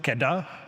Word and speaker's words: KEDA: And a fun fact, we usually like to pronounce it KEDA, not KEDA, because KEDA in our language, that actually means manure.